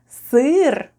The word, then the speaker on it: сыр: And the last new word for today is СЫР /sêêr/ . СЫР /sêêr/ is...